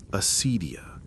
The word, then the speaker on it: acedia: You'll want to say it like this, acedia.